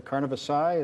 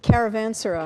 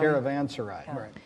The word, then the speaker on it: caravanserai: If I'm pronouncing it correctly, Carnavassai, is that how it was? What's the right? Caravanserai. Caravanserai, right.